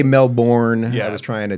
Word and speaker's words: Melbourne: That's Americans really struggle with Melbourne. We say Melbourne.